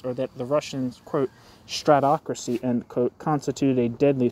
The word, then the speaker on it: stratocracy: quote State excuse me have I been pronouncing this wrong I thought it was stracy it says stratocracy here one second it is stratocracy I've been saying it wrong I'm sorry stratocracy where